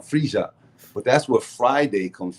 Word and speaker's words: Friya: of it's spelled f-r-i-y-a-a-friya some people say Freya but it's a j sound freesia but that's what Friday